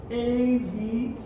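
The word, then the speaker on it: אביב: So it looks like this if you were to write it in English. A-V-I-V. Right? Aviv. But it would actually look more like this. I'm using transliteration. A-V-E-E-V. Right? Makes what?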